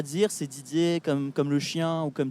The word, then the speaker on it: Didier: Et Didier et, c'est pareil en fait.